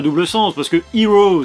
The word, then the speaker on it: Hiro: double sens parce que Hero c'est un vrai prénom pour eux mais ça se prononce comme le mot anglais qui désigne le héros.